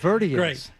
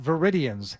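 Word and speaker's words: Cape Verdean: Verian not Vidians as I had said my whole life. It's Verian. However you pronounce it.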